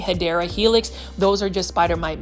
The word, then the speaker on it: Hedera helix: It's kind of like when you try to grow a Hydra helix. Or the correct way to say it is English ivy, Hedera helix.